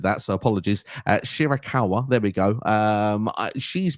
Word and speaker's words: Shirakawa: mind the fact that from Stardom uh Mina Shakira I hope I've said that right I probably butchered that so apologies shirakawa there we go um she's been around in